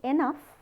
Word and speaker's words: enough: So, in enough, we write it with GH, but we pronounce it like f.